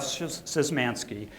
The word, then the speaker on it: Szymanski: Jeff Szymanski, who has worked in the world of perfectionism as it relates to obsessive-compulsive disorder.